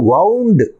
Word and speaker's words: wound: ஸோ இன்னொன்று வந்து வவுண்டு, ஒன்று வந்து ஊண்டு, இன்னொன்று வந்து வவுண்டு, வவுண்டு.